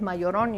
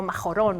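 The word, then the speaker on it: Majorana: italiano etore mayorana y la J en italiano se pronuncia y así que por eso es mayor on y no majorón o más Llorona porque fue mayor con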